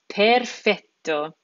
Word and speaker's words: perfetto: becomes perfeto perfeto now that Double T combination we need to make sure that that we're pronouncing that t letter twice it's not perfetto it's perfet perfeto we're hitting that t twice correct becomes Corto there's